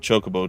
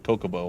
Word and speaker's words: chocobo: around like a demented chocobo today oh that's another thing we're gonna have to break a cup of goodness from saying kokobo all the time get him to say it correctly which i i don't